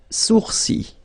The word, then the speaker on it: sourcils: Les sourcils. Okay, so it's quite strange because you get this LS at the end, but then, well, you don't pronounce them. Les sourcils.